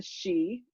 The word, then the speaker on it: Sidhe: I made her into a male fairy, inspired by Irish folklore about the Sidhe, that's spelled S-I-D-H-E.